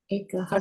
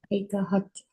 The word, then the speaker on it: एकहठ: What's the difference in pronunciation of 31 and 61? 61 is एकहठ. Ekahat. सठ कापो हिकु एकहठ. Ekahat. एकहठ. सठ is 60. एकहठ माना add one.